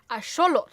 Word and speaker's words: axolotl: mother basically mispronounces axolotl it actually comes from the nahuatl language which is the aztec language it's still spoken in mexico today and seeing as it is a native word if you were to pronounce it properly the x would have an sh sound and the tl at the end would not be tull but like a t and then the air should come out the sides of